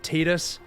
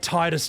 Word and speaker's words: Titus: Like, yes, it's officially pronounced Tetus, but Titus just sounds way cooler, so it.